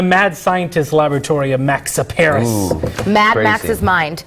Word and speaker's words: Tsaparis: But right now, it's time to talk all things science, but shh, the T is silent. This is Tsaparis Science.